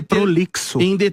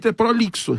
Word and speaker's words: prolixo: A pronúncia é prolixo. Prolixo.